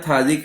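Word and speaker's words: phthalic: इसका common name होता है थैलिक एसिड, जो आपको याद रखना है। थैलिक एसिड, पी साइलेंट होता है।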